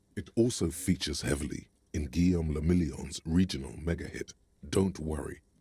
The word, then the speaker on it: Guillaume Lamillion: Guillaume Lamillion. He sounds important. If it doesn't rhyme, you're not pronouncing it right.